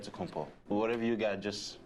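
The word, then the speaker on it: Giannis Antetokounmpo: after this from Milwaukee rather a lot of letters that go into the spelling of Yanis onthe the combos last name he helps set the record straight of how you pronounce it in a deal way you gotta save the D so it's a dead compo but in the Greek way you save it and see like instead to compose whatever you got just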